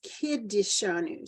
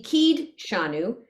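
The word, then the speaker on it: קִדְּשָׁנוּ: but he would be keyed shanu but many people say and I was listening in Minion where the older men were davening and they they put in an extra syllable for the schwa which we don't normally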